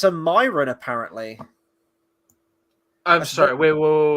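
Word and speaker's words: Mairan: know the truth yeah oh it's it's a Myron apparently I'm sorry we will wait how do you spell that we're bringing Sauron into this now apparently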